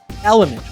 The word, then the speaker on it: LMNT: 60 milligrams magnesium and element which is spelled lmnt has none of the